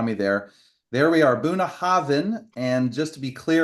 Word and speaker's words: Bunnahabhain: So that BH is a V for victory when it comes up.